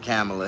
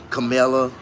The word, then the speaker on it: Kamala: Our whole country gonna be bankrupt if we let Kamala Harris become president. Ain't nobody even pronouncing her name correctly on TV. Her name is Kamala, but they keep Kamala, Kamala, Camilla.